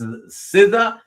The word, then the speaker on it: SZA: That's how she spells her name. It's pronounced Siza.